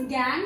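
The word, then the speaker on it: gangue: Okay, कई लोग इसे गैंग्यू बोलते हैं बट it's pronunciation is गैंग।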